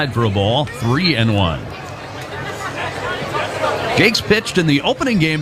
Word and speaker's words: Jacques: night jake's is spelled j-a-c-q-u-e-s looks like it should be jacques something but it's pronounced jakes the one-oh banks fouls